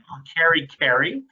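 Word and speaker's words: kerekere: cover that if it's please say carrie carey um is how that's pronounced that's please um and then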